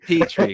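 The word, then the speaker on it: Pitre: Before Time, little Petrie. Petrie, got it. The R's before the E.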